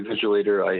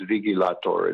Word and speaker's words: Vigilator: Yeah, this is Vigilator, or as you call me, Vigilator. I actually, it's pronounced Vigilator in Latin, but that's okay.